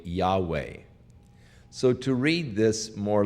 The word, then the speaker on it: Yahweh: hebrew name for God it is the YHVH Tetragrammaton that is unpronounceable but according to most scholars the pronunciation is probably Yahweh so to read this